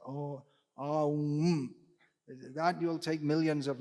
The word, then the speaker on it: Om: Oh, actually, it's three syllables. Oh, Om.